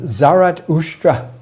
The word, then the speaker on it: Zarathustra: In his language, Avestan, his name is pronounced Zarathustra.